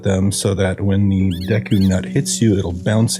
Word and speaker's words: Deku: And these lovable leafy little fellows are known as deu scrubs or deku if you're leaning into the Japanese pronunciation.